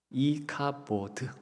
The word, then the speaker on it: 이가봇: 근데 그 손주의 이름을 어떻게 말하냐 하면 이가봇이다 그래요. 그 이가봇, 그것을요 히브리 말로 그대로 말씀을 드리면 이카보드 이런 식으로 발음할 수 있겠습니다.